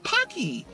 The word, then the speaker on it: Paqui: don't be worried be punky punky rhymes with hockey it's an Aztec word